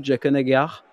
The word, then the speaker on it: Jaqen H'ghar: Alors, tu me reprendras sur la prononciation, mais j'aime beaucoup Jaqen H'ghar.